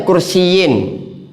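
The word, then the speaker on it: كُرْسِيٍّ: Ee jadi kalau di bawah tasdid bacanya kursiin.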